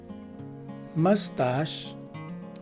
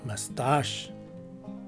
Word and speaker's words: mustache: word, the letters C and H take an SH sound. Take note, it's an SH and never a CH sound, and the letter E at the end of the word is dropped. So the right way to say this word is either mustache or mustache.